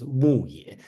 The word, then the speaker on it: Muye: So they have a famous war called Battle of Muye. Muye. Okay, so pronounced as Muye.